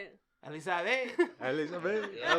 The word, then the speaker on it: Elisabet: Elisabet.